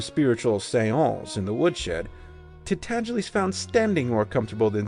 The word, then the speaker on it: Tintagiles: to pronounce the name Tintagiles correctly. It rhymes with sneeze, and the accent is on the second syllable, and the G is soft.